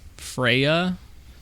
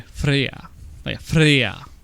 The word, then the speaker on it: Freyja: the god of fertility her name is freya but the way it's pronounced and spelled is so weird the pronoun the actual pronunciation and this varies depending on region kind of like in the u.s yeah it's actually freyja it's really weird how